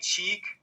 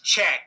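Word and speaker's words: Cheick: I think it's Czech, since he's been around for like 25 years and we've heard it 1,000 times. But I was saying Czech.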